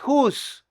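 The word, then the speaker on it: who's: Whose para posesión y whose que suena igualito, que es la contracción de who is o quién es. Suenan igual, pero se escriben diferente.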